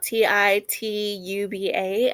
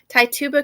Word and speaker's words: Tituba: this lady's name but it's t tube t tuba um it's spelt t-i-t-u-b-a i don't mean any disrespect so i would say it's tituba maybe an enslaved woman owned by paris's father tituba confessed to being a